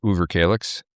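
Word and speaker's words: Överkalix: in Sweden in the Uber Kaix district and that's spelled with what we would call an O but they say Uber Kaix and if if a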